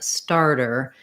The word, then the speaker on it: starter: and st sounds so the d e r and the t e r both sound more like a d e r that's because in a word like starter this t is going to be a flap t and we tend to flap both d's and t's in the middle of words when they're between two vowels you might find it